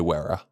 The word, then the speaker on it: Wera: How do you say Wera?